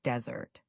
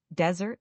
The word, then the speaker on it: desert: Desert, the sandy place, has the stress on the first syllable, desert.